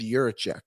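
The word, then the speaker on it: Jiříček: I think an interesting thing about Fabro going to Columbus, Frank, is David Juracek.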